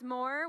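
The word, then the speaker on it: MOAR: we've coined a phrase more which is spelled mo AR which is more which is spelled like roar so you like have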